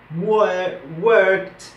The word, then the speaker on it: worked: Por ejemplo, estos tipos de verbos que terminan con K siempre van a sonar con T al final. En la pronunciación, worked, walked.